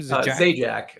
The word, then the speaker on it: Zajac: say your last name Z Jack uh like the game show host yeah oh oh Z Jack yeah with art from